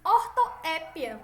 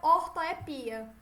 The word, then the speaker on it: ortoépia: normas urbanas de prestígio, chama-se ortoépia, certo? Ou ortoepia, certo?